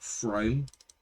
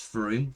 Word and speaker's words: Frome: It's not Frome, it is Frome, so they do stop at the most mispronounced place in the UK.